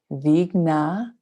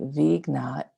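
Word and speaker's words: Vighna: Vigna. V-I-G-H-N-A. Vigna is the third word. Nashanaya is the fourth. Nashanaya. Namaha, which is to bow to. So Vigna and Nashanaya is to tower above.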